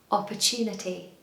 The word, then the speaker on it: opportunity: I think they're not quite sure about the syllables, but I worked out that the word inside opportunity is tuna. Tuna. So if you can say tuna, you can say opportunity.